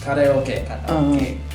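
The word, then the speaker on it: カラオケ: which is pronounced karaoke in Japanese.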